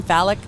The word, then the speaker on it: Falak: here with a very special guest ahmed from phallic i want to make sure that i pronounce this phallic startups right yes okay great great great thank